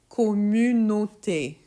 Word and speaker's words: communauté: I hear this mispronounced all the time. Répétez. Communauté. Communauté.